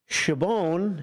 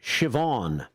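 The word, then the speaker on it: Siobhan: checking in he says shabon as I pronounced it is pronounced like shobon oh it's gelic for Sharon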